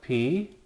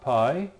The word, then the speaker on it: pi: Again, I call it P, not pi, because its name is spelled this way.